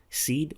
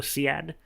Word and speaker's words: SEAD: of enemy air defense seed or Siad depending on how you want to pronounce it we will look